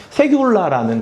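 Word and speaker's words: סגולה: 세귤라라는 단어예요. 오늘 주제로 그래서 하나님의 세귤라라는 이렇게 이름 붙였는데 좀 어렵죠? 세귤라 원래 이렇게 발음하는 거예요.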